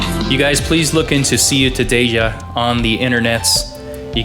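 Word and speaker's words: Ciutadella: got some music from see you today yeah from Barcelona Spain I believe that's how you say it it's CIU ta de l ll a so I would kind of figure it see you today yeah so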